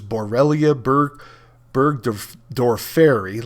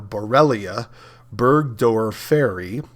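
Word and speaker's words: Borrelia burgdorferi: most common one is borellia bur Berg doriry let me pronounce that a little better borellia Berg door faery and bellia mayoni now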